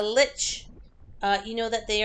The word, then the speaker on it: lich: what a look is I'll probably mispronouncing Lick Lick how do you guys say that there you go a lich uh you know that